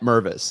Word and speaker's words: Mervis: Like, I don't know how else to say it, but Matt Mervis, that's how you say it.